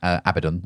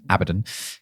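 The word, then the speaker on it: Abaddon: Couldn't do a bad abbod. I keep saying that name wrong. It's abbidon.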